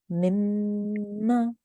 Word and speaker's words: مما: So you hold on the nasal sound, you hold on the joining sound for about 2 seconds before you pronounce the fatha sound on the top.